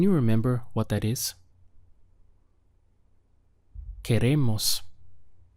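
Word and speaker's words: queremos: remember what that is que Ramos we have three syllables okay ray mas que Ramos how would you say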